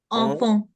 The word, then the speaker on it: enfant: Enfant. enfant, enfant। अब ध्यान से, फ लास्ट वाला फ्रेंच में, बिल्कुल लास्ट वाला, आई रिपीट, बिल्कुल लास्ट वाला, एस ते पे ते एक्स विल रिमेन साइलेंट।